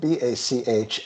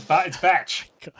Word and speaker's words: Bach: Just to clarify, the word you were repeatedly saying is spelled B-A-C-H and not B-A-R-K. Is that right? Bach. Thank you. I had It's to translate Bach. from Australian. Bach, mate. It's Batch. John Batch.